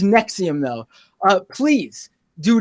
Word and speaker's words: NXIVM: They have a weird spelling. Yeah. NXIVM. Yes, it's pronounced Nexium though.